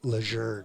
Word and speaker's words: Lejeune: Now they're the Lejeune family complained that we've been saying it wrong all these years. It's now Lejeune.